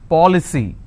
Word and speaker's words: policy: For example, policy. How many syllables? 3. Policy. Now here the rule says I need to stress on the third from right, which means I will stress on paw.